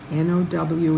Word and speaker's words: now: sent me verse 42 now n-o-w is now like wow not oh like low it's now verse 43 yourselves